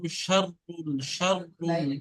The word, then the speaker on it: شر: তারপর এখানে শারুল বারিয়া, এটা শিন আছে, শিনের উচ্চারণ একটু মোটা, তাহলে শয়ের মতো করে হবে। উলাইকা হুম শাররুল বারিয়া, شر শাররুল البرية বারিয়া।